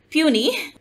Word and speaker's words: puisne: The word puny is the phonetic spelling of puny, which means the spelling of how the word P-U-I-S-N-E is pronounced and has been adapted in English as such.